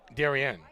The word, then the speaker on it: Darien: Is it Darien or Darien? Darien. I know. I'm not from there, so Sure. I've heard it pronounced both ways.